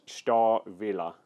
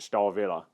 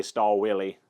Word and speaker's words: Stahlwille: I do know that w's are normally pronounced as V's so looking online for pronunciation from native German speakers everywhere I've looked it has been pronounced star Villa so we're gonna call